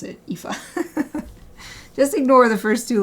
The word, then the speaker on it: Aoife: And the video was like, just forget the first two letters, and then you can pronounce it Aoife.